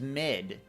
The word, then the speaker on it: Mid: let you know oh your name's mid because it rhymes with Sid it isn't yeah telemon